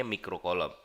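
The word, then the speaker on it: mikrocoulomb: dan ada mikro coulomb yang ini bacanya mikro kolom kalau milik kolom itu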